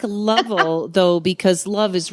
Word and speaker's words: Lovell: Well, let me just say, folks, it's Lovell.